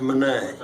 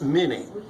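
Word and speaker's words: Minié: the name of Claude Mane now man's name is spelled m i n i e so to our anglosaxon ancestors that's not Mane that's many that's why we call this thing a mini ball it's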